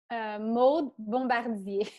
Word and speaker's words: Maud Bombardier: Laughing Hour, on Instagram, Maud Bombardier. How do you pronounce that? Oh yeah, it's Maud Bombardier. It's very French.